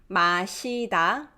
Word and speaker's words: 마시다: 마시다, 마시다, it's pronounced just like it's written.